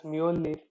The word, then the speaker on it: Mjolnir: They named it Mew Mew because this is actually pronounced as Mjolnir.